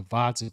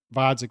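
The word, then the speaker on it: Gvozdyk: what he does to Vodzik with a silent G. He's really gonna get his hands on Vodzik with a silent G and do a number on him and make a statement at 175.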